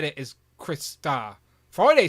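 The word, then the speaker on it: Crystar: even said it is Chris star Friday said Chris stars like Friday I would pronounce it as Chris star okay so on brand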